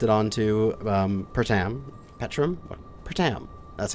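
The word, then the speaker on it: Pertam: the bison plopped it onto um pratam petrum pratam that's how you pronounce it and then just start recording and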